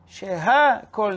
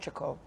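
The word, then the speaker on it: שהכל: Sheha Kol Niya Bidvaro. Shakol, Shakol. There's no word Shakol. Say it correctly.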